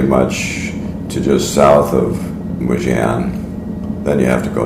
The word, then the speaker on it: Mougins: to get to toan I think it's pronounced muan I went on Google ask for the pronunciation and that's the way they pronounced it for and up ahead